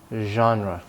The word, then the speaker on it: genre: this sound you vibrate the vocal cords yeah genre genre so we are talking about genre in